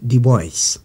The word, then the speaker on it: Du Bois: africain de la diaspora son nom s'écrit du bois ça se prononce du bois il est né vers